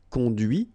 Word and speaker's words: conduit: difference between because remember final T is not pronounced cond here and then the feminine